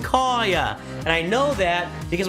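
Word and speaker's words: Kaiya: I would have said Kaya as well, because it's pronounced Kaya.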